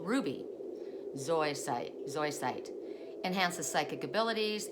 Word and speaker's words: zoisite: up and so white am I saying it right zoisite zoisite I think I'm saying it wrong so so SOI site SOI site there you go sorry okay dispels laziness